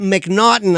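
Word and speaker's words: M'Naghten: And it's spelled M''N''A'G. It's like, and somehow we got McNaughton out of that.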